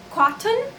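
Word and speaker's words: قطن: So the word cotton actually derives from an Arabic word called cotton. It sounds exactly like the word cotton if it is pronounced correctly.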